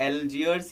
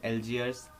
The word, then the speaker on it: Algiers: इसका कैपिटल अगर बात करें तो एल्जियर्स या फिर एल जाजीर, ऐसा दो नाम है इसका, कहते हैं, स्पेलिंग में लिख देता हूँ, एल्जियर्स ALGIERS, एल्जियर्स या फिर एल जाजेर ऐसा करके इसका नाम है, कैपिटल है।